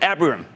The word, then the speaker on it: Abraham: Abraham. Hey, Jim, how are you? Oh, good. Sorry if I mispronounced your name.